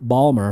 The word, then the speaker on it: Baltimore: it up balmer balmer like a baller ball balmer oh crap he's on but he's gonna he